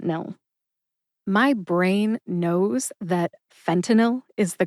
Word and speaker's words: fentanyl: differently for the record the correct pronunciation is fenel three syllables fentanyl now that you know